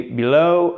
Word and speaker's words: below: la première syllabe, under, et below, accentuation sur la deuxième syllabe exactement, avec cette fameuse diphtongue, un E qui tend vers un OU.